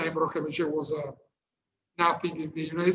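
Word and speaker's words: Macìe: I think it's Macie. Perfetto. Pronunciation is perfect. Macie, excuse me.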